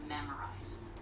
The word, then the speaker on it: memorize: The stress is on the first syllable, so it's memorize.